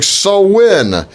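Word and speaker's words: Samhain: the beginning of winter season's over left during so when it's a spelled sa MHA I in but it's pronounced so when and revelers believe the worlds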